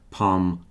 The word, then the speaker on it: palm: I do say palm and calm, but most people just say palm calm. Rhyming with farm.